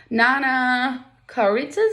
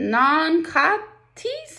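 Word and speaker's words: nankhatai: Nana karitzas, I say? Non-katis, she says slowly. Her pronunciation is perfect.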